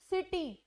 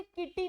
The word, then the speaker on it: city: ये हमें सी रूल बताता है कि अगर सी आप ई और आई के साथ यूज कर रहे हो तो वो आपको सै से प्रोनाउंस करना है। एग्जाम्पल सिटी, CITY आई के साथ है तो वो सै से प्रोनाउंस हो रहा है सिटी। अब हम उसे किटी नहीं बोलते, कैसे प्रोनाउंस नहीं करते, सै से प्रोनाउंस करते हैं।